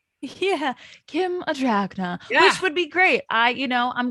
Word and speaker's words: Adragna: How do you say your last name? Adragna. It sounds like a dragon.